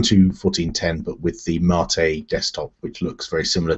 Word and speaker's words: MATE: it's a bu to 1410 but with the Marte desktop which looks very similar to the old